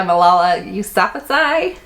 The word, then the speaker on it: Malala Yousafzai: Tucker, Famous in a Small Town by Emma Mills, I Am Malala by Malala Yousafzai, that's how you say her name, The Cinderella Rules by Donna Kaufman, Beautiful Beep by Christina and Lauren, Splintered by A.G.